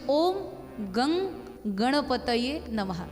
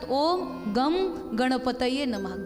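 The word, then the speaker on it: ओम गं गणपतये नमः: आपण त्याचा उच्चारण करतो पण तो स्पष्ट उच्चारण व्हायला हवा म्हणजे ओम गंग गणपतय नमः काही लोक म्हणतात ओम गणपतय नमः गम नाहीय तिथे ग ओम गणपतय नमः जर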